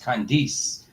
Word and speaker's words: Candice: See, how I would pronounce it is with the I is Candice.